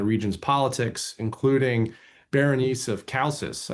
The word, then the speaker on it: Chalcis: So another question that we have here is, so several women played prominent roles in the region's politics, including Berenice of Chalcis. I Right.